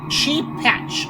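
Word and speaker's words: Shepach: It's sheep patch. Oh, I'm sorry. S-H-E-P-A-C-H is how it's spelled.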